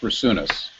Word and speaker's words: Brasunas: here and uh my last name is pronounced brunus let's remember thatas uh